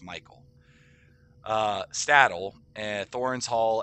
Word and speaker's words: Michel: it's spelled so weird it looks like it says Michel delving but it's Michael it's pronounced Michael uh stadle and Thoren